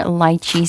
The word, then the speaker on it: lychee: so so next up we have lychee soda fizz or lychee soda fizz whichever way you pronounce it both are correct by the way the